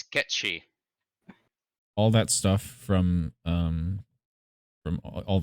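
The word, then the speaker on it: Cait Sith: So I discovered it's not Kate Sith, it's Ketchi.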